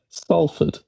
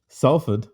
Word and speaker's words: Salford: How are we supposed to pronounce it? Salford. Sulfur.